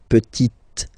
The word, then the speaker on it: petite: the feminine form, la petite. So I insist because here it's t, okay? So really you need to make the difference between the masculine form petit and then the feminine form petite, okay?